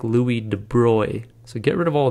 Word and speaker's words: de Broglie: named louis de bruy now it looks like you pronounce this louis de broglie and that's what i always said i always read this and i said de broglie in my mind and i knew that wasn't right if you look it up